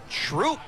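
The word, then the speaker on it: Throop: dis that and these and those we would pronounce the th but no it's troop we're in troop founded by Benjamin troop in 1882 I believe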